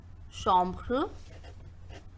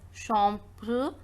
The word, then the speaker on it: chambre: So the first word we have chambre, chambre, because the sound of AMB is OM. CH is pronounced as sh. So we are reading this word as chambre, that means bedroom.